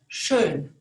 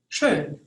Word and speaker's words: schön: The O with the dots over it actually mean OE.